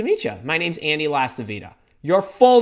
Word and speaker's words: LaCivita: My name's Andy LaCivita. Your full name. You want to know why you want to say your full name? Because not everybody is named Carly Smith or something that's easy to pronounce. LaCivita, do you have any idea how many people